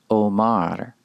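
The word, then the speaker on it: אֹמַר: is the verb Amar Al it's pronounced Omar if we wish to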